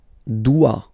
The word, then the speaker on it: dois: Je dois. Okay, remember, final S is not pronounced. Je dois. O-E, when you combine the two, you get the sound wa wa wa.